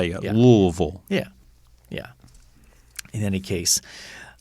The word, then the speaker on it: Louisville: since 2006 and so louisville louisville there's a mumble in it mm-hmm it's like something's falling out of your mouth that's how you louisville yeah yeah in any